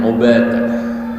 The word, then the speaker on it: Ubadah: Hadis ketiga, An Ubadah ibn Samit, bidomil ain ya bacanya Ubadah.